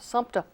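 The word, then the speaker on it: Sumter: dad were both from the little town called Sumpter spelled without the people pronounced with it you know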